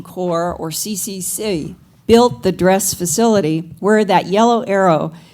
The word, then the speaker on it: DRES: as DRES, the acronym, and it is always pronounced DRES.